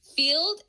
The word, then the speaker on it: Feeld: No, I met him on Field, the dating app. What's Field? Field, it's spelled FEELD. And then it used to be an app to find threesomes.